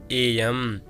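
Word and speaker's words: 의: ए भनेको को, यसलाई चाहिँ उही लेखेको भए तापनि को भन्ने अर्थमा चाहिँ यसको उच्चारण हामीले ए भनेर गर्नुपर्छ।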